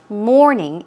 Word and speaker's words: mourning: It's pronounced exactly the same way as we say, I wake up at 9 o'clock in the morning. Morning, afternoon, evening. The pronunciation is the same. Mourning, and we're talking about grief or grieving or sorrowing.